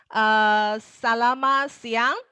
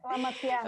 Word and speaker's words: Selamat siang: Selamat siang. Right, Lily? I pronounced it right. Correct. Yes. Selamat siang.